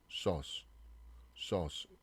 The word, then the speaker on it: sauce: 우리말의 소스 이 발음이 좀 다르죠. 소스, sauce 이런 식으로 좀 연습을 해보세요.